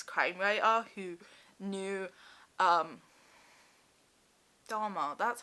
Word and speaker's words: Dahmer: I mean there is like a very famous crime writer who knew em Dahmer, that's how you say his name and now I can't remember the other famous of US Serial Killer.